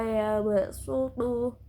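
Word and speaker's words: يبسط: Shot dibaca sin. Shot yang dibaca sin bisa wallahu yaqbidu wa yabsutu. Shotnya harus dibaca sin.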